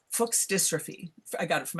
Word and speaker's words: Fuchs: I have a genetic disease called Fuchs, I'm going to say it properly instead of the profane way, Fuchs dystrophy.